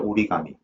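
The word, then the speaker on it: origami: 그래서 이제 발음도 어 우리 단어 자체도 이제 일본 발음인 거죠. 오리감미 그죠.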